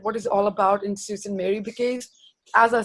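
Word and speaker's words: Sault Ste. Marie: Salt's train made it call it as a Susan Mary on Charlie because when I was in Canada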